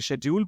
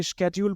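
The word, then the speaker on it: schedule: है, और आप इसे स्केड्यूल पढ़ते हैं तो भी सही है। दोनों ही प्रोनाउंसिएशंस एब्सोल्युटली करेक्ट है और एक्सेप्टेबल भी। तो आपकी मर्जी है, आप इसे शेड्यूल बोलिए या स्केड्यूल।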